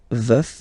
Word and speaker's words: veuf: Veuf, so remember to pronounce the final F, veuf, and then the feminine form, je suis veuve, veuve, veuve.